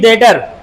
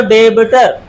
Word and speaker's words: debtor: Next question है हु इज डेटर। ध्यान से सुने, स्पेलिंग है DEBTOR। अगर पढ़ा जाए तो डेबिटर, पर बी साइलेंट होता है, डेटर।